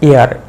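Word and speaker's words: heir: এইচ ই আই আর, হেয়ার বলবো? তোমাদের কি মনে হয়? এইচ ই আই আর, হেয়ার, এর মানেটা হচ্ছে উত্তরাধিকার। ক্লিয়ার? এর উচ্চারণটা হবে এয়ার, এ আই আর, যেটা বাতাস, সেই উচ্চারণ হবে এয়ার।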